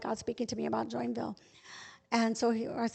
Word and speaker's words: Joinville: he saw was joinville we thought it was joinville they pronounced it join villy and so um so